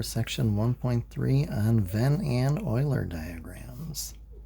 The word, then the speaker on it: Euler: Hello and welcome back for section 1.3 on Venn and Euler diagrams. So Euler spelled a little bit different than the way it's pronounced, but it's a last name just like John Venn.